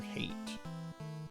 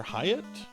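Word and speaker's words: Hait: I had a professor um in undergraduate who was named Dr. Hate. H AI T, but it was pronounced hate.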